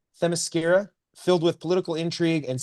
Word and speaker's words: Themyscira: Themyscira. Themyscira, filled with political intrigue and scheming between power players.